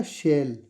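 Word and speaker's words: shell: ठीक है, सील नहीं बनेगा, इसका बनेगा शेल। इसको ऐसे बोलेंगे शेल। कभी आप इसको C और L बोल के सील बोलो, सील नहीं है इसका, इसका प्रोनाउंसिएशन है सेल।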